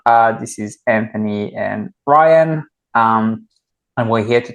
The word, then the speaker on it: Ryan: of times I go it's Ryan and they go Brian know Brian with an R like oh oh okay